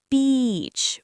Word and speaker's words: beach: It's beach with a long e sound. Your lips stretch wide like you're smiling.